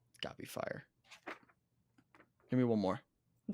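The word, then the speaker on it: Feyre: try to pronounce it f e y r e f y r e yep that's fire gotta be I think it's fair fair nah I'm pretty sure I've heard people say that gotta be fire give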